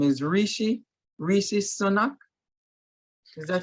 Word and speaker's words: Rishi Sunak: With I'm trying to look up the name, is Rishi Sunak. Is that how you pronounce it?